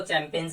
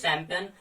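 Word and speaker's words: champagne: जैसे चैंपियन, चैंपियन, पहले तो इसको चैंपियंस ही नहीं बोलना आपको, दैट इज चैंपियन।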